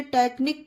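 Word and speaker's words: technique: वो उच्चारण दिया गया लेकिन एच साइलेंट है तो इसे टेक्निक पढ़ा गया ओके फ्रेंड्स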